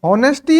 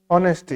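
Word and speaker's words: honesty: ये हॉनेस्टी है, आप सब गलत पढ़ रहे हो। इतनी देर से मैंने ध्यान नहीं दिया, ये ऑनेस्टी नहीं, ये ऑनेस्टी है, ऑनेस्टी, ये साइलेंट वर्ड है।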